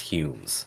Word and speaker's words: Home: it's spelled h o m e but it's pronounced Humes never seen this guy in my life well